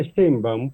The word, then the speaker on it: Sheinbaum: Sheinbaum, se pronuncia Sheinbaum porque Sheinbaum es un apellido del padre de Carlos Sheinbaum, el padre de Claudia, y tiene una raíz judía, Sí. askenazi, Sí. porque el abuelo de Claudia era un inmigrado lituano que llegó por ahí de 1917 a México. Entonces, la pronunciación de Sheinbaum, cuando lo pronuncia un judío askenazi, suena como a Steinbaum.